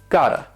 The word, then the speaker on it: gotta: tell you about is got to gotta this also would have two syllables with the stress on the first syllable and the second syllable would have the schwa now the T and this is especially important in American English the way Americans talk it has that flap T sound which is like a